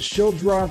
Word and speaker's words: Schildroth: Taylor, first of all, did I say it right? Is it Schildroth? I've heard it pronounced differently. You got it.